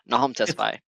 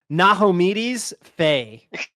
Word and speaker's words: Nahome Tesfai: Nahome Tesfai, hello. I said it right? What's your question for us today? Yep. Still it's Nahome City. Yeah, Nahome Tesfai. Oh, I've been reading it as like Nahomedes Faye.